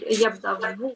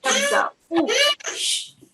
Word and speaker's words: يبدأ: Yabda u. U. Yeah, so you pronounce the Hamza with the Dhamma because the harakat, the stroke on the Hamza is the Dhamma.